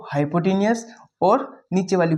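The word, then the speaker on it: hypotenuse: विवाद है इसको क्या कहते हैं इसका सही उच्चारण क्या है बहुत सारे तो इसको कहते हैं हाइपोट हाइपो टेनियस हाइपोटेन्यूज अपन कहेंगे बेस नीचे वाली जो साइड रहेगी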